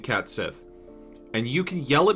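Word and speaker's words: Cait Sith: Apparently pronounced ketchi.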